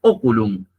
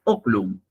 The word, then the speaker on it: oculum: te están diciendo es se dice oculum no se dice ocum están aclarando Cuál es